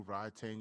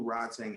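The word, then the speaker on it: Rodtang: Tang Jit Mundo or Rod Tang and it'll come up. Who can spell that? Rod Tang Jit Mungo. Like, R-O-D. yo. Yeah, Rod as in like Rodney, Tang as in Pootie Tang, correct?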